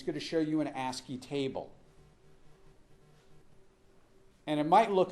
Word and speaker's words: ASCII: have to pronounce these things it's called It's pronounced asky and it's really a very very simple An